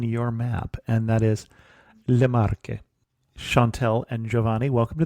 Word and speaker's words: Le Marche: not be on your map, and that is Le Marche.